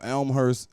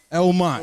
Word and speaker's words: Elmont: And Kyle 45 on the flip side of that, where you coming from Elmhurst and what? I say it right? Because one time I got him. Elmont.